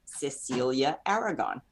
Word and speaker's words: Cecilia Aragon: How do you say it in Spanish? So my name is Cecilia Aragon, but you can also call me Cecilia Aragon.